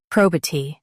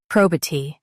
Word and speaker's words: probity: Prob T probit emphasize pro and keep B light probate. Emphasize pro and keep B light. Prob T probit emphasize pro and keep B light.